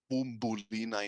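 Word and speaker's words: Μπουμπουλίνα: So Bubulina is pronounced as Bumbulina in Cypriot Greek, and video club would be pronounced as video club in Cypriot Greek.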